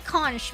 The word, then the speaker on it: conch: I used to say conch because of how it's spelled, but people corrected me to conch.